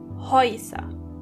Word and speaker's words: Häuser: As you can hear, when the letter A umlaut comes before the letter U, together they are pronounced Oi. Häuser.